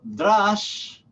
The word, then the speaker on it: drash: Tercero, drash o midrash, que hemos mencionado antes, como casa de midrash, D-R-A-S-H.